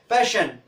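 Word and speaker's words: passion: उसी तरह से क्या है, डबल एस के बाद ION आया है, तो ये डबल एस है, उसके बाद क्या है, ION आया है, तो उसका उच्चारण क्या हो गया, पैशन, क्या हो गया, पैशन।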